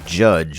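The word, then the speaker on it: Jydge: we have the game judge which is spelled j-y-d-g-e and all of the Y's in the game are pronounced as use I don't know why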